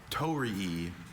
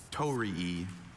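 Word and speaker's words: torii: Tori, could I have the definition?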